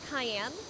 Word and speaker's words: Cayenne: Uh it's spelled differently but pronounced exactly the same. Yes. It's spelled like Diane but with a K. But it is very much like the pepper.